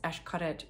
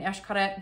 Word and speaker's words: Xcaret: genius man behind this Xcaret group. It's called Sueños. Xcaret is spelled with an X, as you know. It's Mayan, so everything is Esh. This essentially means dreams, like if it was sueños.